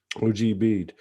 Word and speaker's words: Ogbeide: name of, and I will spell his last name and then pronounce it the way I like it. Ogbeide. To me, it's O.G., original God, right? O.G. Bede.